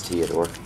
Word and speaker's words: Theodore: I think it's Theodore, no H.